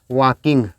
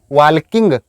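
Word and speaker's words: walking: आईएनजी form, Ram वाज वॉकिंग। कई लोग इसको क्या प्रोनाउंस करते हैं, वॉल्किंग, वॉल्किंग नहीं, वॉकिंग, एल साइलेंट है।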